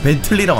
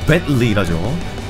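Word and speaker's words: Bentley: 오, 영어로 이제, 벤틀리라고 안 하고, 벤틀리라죠. 예, 진짜, 저도, 여, 오, 뭐야, 가방 있네? 역시, 아, 아, 그래요? 아니, 그냥, 벤틀리, 이렇게 하면 되지. 꼭, T 발음을, 이렇게 하죠. 예, 벤틀리.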